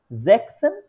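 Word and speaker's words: sechzehn: অনেকটা এস এর মত যার কারণে হচ্ছে এস এবং সেট একই সাথে থাকলে উচ্চারণটা একটু ঠিকঠাক আসে না জ্যাক্সেসেন এরকম হয়ে যায় যার কারণে এটার হচ্ছে এস টা উঠে ওরা জ্যাকসেন ইউজ করে সরাসরি ঠিক আছে এটা আরো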